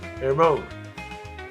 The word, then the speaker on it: Hermione: How do you pronounce that? Hermione? Hermione? Hermione.